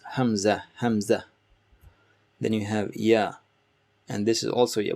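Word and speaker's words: ي: Then you have ya, and this is also ya. Both of them are ya. Just like in English, you would say ya, ya. So it's that sound.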